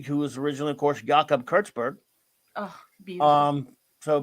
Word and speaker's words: Jacob: you Benjamin yakob actually let me pronounce it properly since he's a Jewish character yeah Benjamin yakob Grim but would be Benjamin